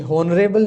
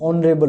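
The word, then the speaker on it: honourable: यहाँ पे ऑनरेबल, ये हॉनरेबल नहीं होता, ये ऑनरेबल होता है, तो यहाँ पर एच जो है साइलेंट है, तो फिर यहाँ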